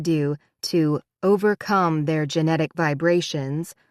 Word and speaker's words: Do: The most famous were the two bow and peep and t and do pronounced t and do like the notes on a scale.